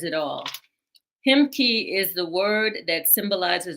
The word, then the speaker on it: Ahimki: Mark Armstrong, naturopathic doctor, he is the founder of the Ahimki, pronounced Himki, Center of Wholeness, which he created in 1995.